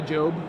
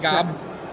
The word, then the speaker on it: Job: I'm going to say Job because, I don't know. Not Gob. Not Gob, that's right. Gob is pronounced Job, though.